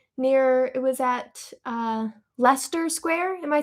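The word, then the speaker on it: Leicester: Lester, pronounced Lester. Yes. Okay, cool. Cuz while before I went to London, I was like, "Oh, it's uh like Leester."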